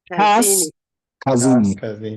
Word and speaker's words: Kaskazini: So if you want to pronounce it properly, you say Kas as one word, Kas, then you say Kazini. So you separate it. Kas, Kazini.